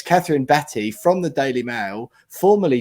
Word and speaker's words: Batte: i used to introduce her actually as catherine batt from the daily mail for about two years until she finally told me despite semi-regular contact between the two of us that her name's actually pronounced betty um so it's catherine batty from the daily